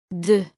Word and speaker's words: deux: Before a vowel. The letter X is pronounced Z. Deux abricots. Deux abricots. Before a consonant, no change. Example: Deux citrons. Deux citrons. when counting or alone. Deux.